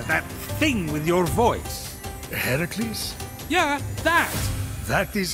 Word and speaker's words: Herakles: Heracles? Yeah, that. That is how it's supposed to be pronounced.